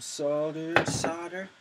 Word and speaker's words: solder: It's funny how English people say solder and pronounce the L, but you Americans don't. I wonder why that is. I mean, it's fine. It's a silent L, but which one's right and which one's wrong?